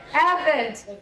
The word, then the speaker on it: Evette: Evette.